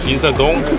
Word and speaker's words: Insadong: Insadong.